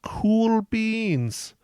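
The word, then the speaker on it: Kuhl Beans: It is, and it's spelled the cool way, not COOL. It's spelled KUHL.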